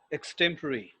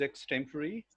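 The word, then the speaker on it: extempore: have covered that yeah this one is extempory well the right pronunciation is x temporary well it means usually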